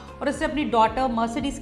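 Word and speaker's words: Mercedes: उसको बोल देते हैं मर्क करके, तो इसकी सही प्रोनाउंसिएशन मर्सिडीज़ होती है।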